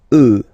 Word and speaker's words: œufs: Then un œuf, des œufs, okay? And we'll make the liaison here to make it sound more beautiful. des œufs, des œufs.